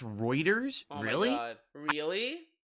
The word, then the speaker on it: Reuters: Notably, they also own a large amount of, it's pronounced Reuters.